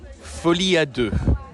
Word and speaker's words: Folie à Deux: Joker Fadu.